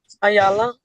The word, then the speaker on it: Ayala: Uh give me the correct pronunciation of your last name, please. Ayala.